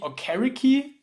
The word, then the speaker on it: Okereke: I think he said something like the pronunciation Okereke was wrong, so Okereke should be the right one.